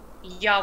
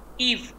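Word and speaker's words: ewe: ईव नहीं, ईयू वी नहीं, ईयू भी नहीं, ईवी नहीं, it's pronounced as यू। Good Ijaz, इसकी प्रोनाउंसिएशन है यू, यू नहीं है, यू खाली, यू इज हाउ इट is pronounced.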